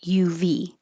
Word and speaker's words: of: is always a verb it looks like o f but it sounds like uv and i use the